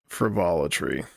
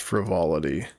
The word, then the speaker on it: frivolity: uh air of frivolitry to them. And I know the word is pronounced frivolity, but it is one of the few words that I will just butcher on purpose and tell people to